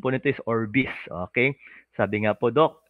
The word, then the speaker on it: Orbis: Ang pronunciation po nito is Orbis, okay?